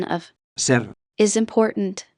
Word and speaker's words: ser: the pronunciation of Ser. is important, don't slur the R.